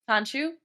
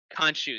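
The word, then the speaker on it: Khonshu: just don't believe the uh i'm never gonna pronounce his name right the moon knights fanchu kanshu thank you kanshu we don't believe kanshu because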